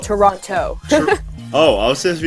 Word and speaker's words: Toronto: Actually, Torontonians don't pronounce it that way. It's Toronto, not Toronto.